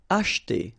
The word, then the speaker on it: acheter: Acheter. Same thing here, we don't insist on this so acheter, acheter.